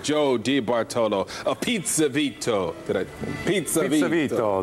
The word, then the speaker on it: Pizza Vito: Pizza Vito. That's right. The accent's on the second syllable.